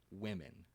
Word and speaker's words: women: And then you have the word women. WOMEN, right? That's the O. I. The I sound like fish.